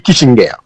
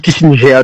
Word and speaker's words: Kissinger: il caractérisé par la double défaite de Henry Kisinger alors qu' dit Kissinger tout soit prononcé en américain mais sont allemand cri aux